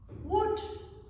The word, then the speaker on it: would: Learners should also bear in mind that they should never pronounce the L when they're pronouncing these words. So, it's just should, would, and could, for example.